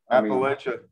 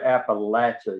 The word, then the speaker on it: Appalachia: If you don't say Appalachia, you're not from Appalachia. Gotcha. So the Appalachian Trail, the Appalachian, that's incorrect? Oh, that wow. Is incorrect. Okay. There's no latch. There's no latch in latch.